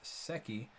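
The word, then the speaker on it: 세끼: Pronounced seki, means daily meals.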